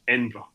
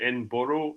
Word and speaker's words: Edinburgh: It's just Edra.